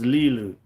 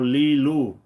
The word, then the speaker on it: Lee Lue: about lelu leelu okay imong is lelu or leelu if you would pronounce in English so think of this